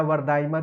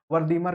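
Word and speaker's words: Wertheimer: मैक्स वर्दीमर हैं या वर्दाइमर। इनके नाम अलग अलग प्रोनाउंस होता है, लेकिन आप वर्दीमर कहें तो वो ज्यादा बेटर होगा।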